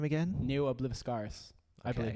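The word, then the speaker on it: Ne Obliviscaris: How do you pronounce the name again? Neo Obliviscaris.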